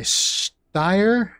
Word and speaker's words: Steyr: the m-19 12 or made by steyr well that's the American Way of saying it steyr mannlicher I think the German way and excuse me for my bad pronunciation I think it's steyr mannlicher I think again I